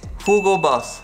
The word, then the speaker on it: Hugo Boss: The correct way to say it is Hugo Boss.